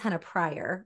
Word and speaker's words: Henna Pryor: My name is Henna Pryor.